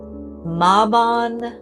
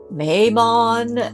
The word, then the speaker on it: Mabon: of Equinox or M maon Mayon whatever part of the country you're in Embrace however you want to pronounce this spelled m a b o n yes so I'm going to say maen um because I'm